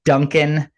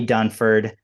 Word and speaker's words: Dunford: And on the video, I said your name wrong. I said Dunkin, not Dunford.